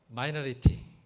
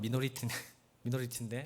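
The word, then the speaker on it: minority: 두 번째로 리얼 크리스찬은 마이너리티, 이제 미국 발음은 미노리티인데 마이너리티라 하잖아요.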